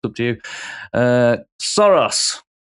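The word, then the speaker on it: Saros: Uh, Soros. Yes. Suros, I think it's pronounced.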